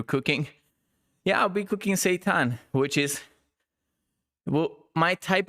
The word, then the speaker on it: seitan: I will show you how to cook seitan. Seitan. Not Satan, but Seitan.